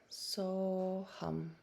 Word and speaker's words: So Hum: And the mantra only consists of 2 syllables. So, S-O, and hum, H-U-M. So hum, so hum.